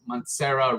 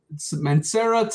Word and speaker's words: Mancera: it has similarities to matcera red uh i think i yeah monserra red tobacco red sorry tobacco red this one has a similarity of of mancera red mancera tobacco red there you go i said it right um this one is